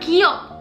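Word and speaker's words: 기역: Tapi sebenarnya nama dari huruf ini adalah Giok. Sama seperti kalau ini tuh A bacanya.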